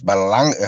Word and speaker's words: Berlanga: Yeah, I mean, Berlanga is a young guy. You know what I'm saying? He need to take his time though. I mean, I You think gotta work on your Spanish and it's Baralanga.